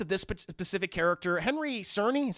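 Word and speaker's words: Czerny: a weird place of this specific character Henry Cerny is how you say his name Henry Cerny he returns as Eugene kittrich um you know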